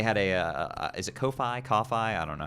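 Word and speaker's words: Ko-fi: Um, Lilac was actually able to uh get they had a uh is it Kofi? Kaufi. I don't know how to pronounce that. It's Kofi.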